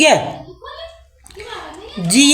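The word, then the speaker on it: hedge: का साइलेंट हो जाए डी के के बाद जी हो तो डी साइलेंट हो जाए। ठीक है?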